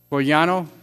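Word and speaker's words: Bolgiano: Mark Bogliano, is that the correct pronunciation?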